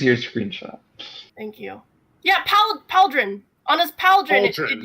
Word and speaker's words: pauldron: Yeah, Pauldron. On his Pauldron, it Pauldron. usually... Pauldron? Pauldron! Like, it's Yes! spelled like the name Paul. Paldron.